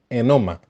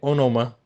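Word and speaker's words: ὄνομα: Bien, la clave está en entender el término griego enoma, así se pronuncia. Aunque se lee onoma, se pronuncia enoma, que se traduce como nombre.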